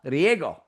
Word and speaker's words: Riego: Her name is Paloma Riggo. Did I pronounce that correctly?